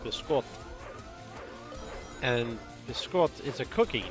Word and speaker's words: biscotti: I do like biscotti, although it's pronounced biscotti.